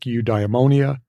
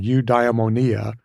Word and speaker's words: eudaimonia: to pronounce old Greek words like eudaimonia oopsie I got that one wrong you diamonia phronesis and For an